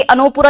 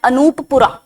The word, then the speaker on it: अनूपपुरा: अब ये अनोपुरा, यहां पे अनोपुरा लिखा हुआ है because this is हाउ you right it in English, वरना इसका प्रोनाउंसिएशन है अनूपपुरा।